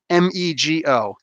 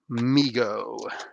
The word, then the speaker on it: Mego: called mega migo migo m-e-g-o you'd figure it's mego he pronounces his name migo so anyway boom so